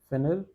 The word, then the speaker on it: finir: Pronunciation is finir.